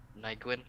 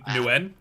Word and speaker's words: Nguyen: Do you think Marcus, I don't know how you say it, Nygwin? I don't know how you... Oh, Nguyen? Nguyen, yeah.